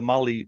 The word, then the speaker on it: Mahle: And for our podcast listeners, Molly is spelled Mahle. I know that's right.